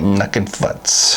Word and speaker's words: Nukin Futz: I see it right you said it right nucking futs from track 7 Brewing Company at a Sacramento